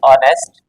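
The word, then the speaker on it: honest: पर ए लगा दिया जबकि जब का उच्चारण करेंगे ऑनेस्ट इस तरह से तो उस कंडीशन में एच तो साइलेंट है तो वहां पर क्या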